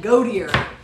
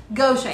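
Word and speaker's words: Gautier: And the first year we're there, he butchered it. He called it Godier. Goshen. How hard's Goshen?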